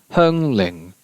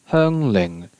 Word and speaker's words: Xiangling: And then we have Xiangling, which in Cantonese is Hengling. Hengling.